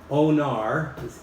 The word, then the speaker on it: Onar: So if you can keep Onar, the way he pronounced it, it's just like honor, but with an O.